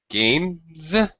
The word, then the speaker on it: games: Games with a Z sound, right?